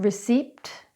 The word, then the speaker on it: receipt: through those words again it's not pneumonia it's pneumonia it's not psychology or psychic it's psychology or psychic it's not receipt its receipt.